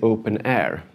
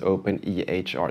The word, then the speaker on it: openEHR: word someone will say open air and that is the same as open ehr that's just two ways of pronouncing it's to confuse everybody so